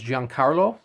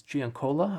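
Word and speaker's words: Giancola: Sean span Donado gianola which I always thought was Jan Carlo but it's Gian Cola I've been apparently saying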